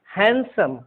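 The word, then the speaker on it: handsome: इसको हैंडसम नहीं पढ़ेंगे, हैंडसम। क्या पढ़ेंगे? हैंडसम।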